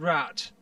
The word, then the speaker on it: Rat: the voice of Roland Rat? No. Roland Rat, his name is a French name, Raimondo or something like Raimondo. Okay. And his last name is spelled Rat, R-A-T, but it's pronounced, apparently, Ra.